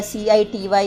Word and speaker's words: city: C, about the C, why the C-I-T-Y is read as city, not kitty. It is C. C says, or C speaks, or C is pronounced S before an E, I or Y.